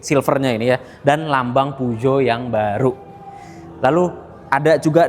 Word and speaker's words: Peugeot: Jadi bacanya bukan PU Geot, bukan pujo, tapi pujo.